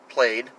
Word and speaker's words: plaid: course the tartan or plaid pronounced played cloth pattern the differing